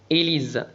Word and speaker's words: Élise: E accent aigu تنطق et S تنطق Z لأنها وقع بين دو فويال إليز.